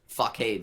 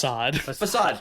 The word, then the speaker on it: facade: Like, no, it's definitely, like, a real, like, giant fuckade set that they built. And the reason I was so impressed... Facade. Is how that word is pronounced.